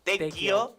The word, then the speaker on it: Tequio: Es Tequio. Tequio, se escribe Tequio, T-E-Q-U-I-O.